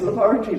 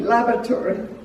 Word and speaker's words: laboratory: So that was really, and I could not say laboratory, because they pronounce laboratory, laboratory. And to me it's like lavatory, And so I'd answer